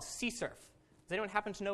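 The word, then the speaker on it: CSRF: that so this thing here uh is called SE surf does anyone happen to know what this stands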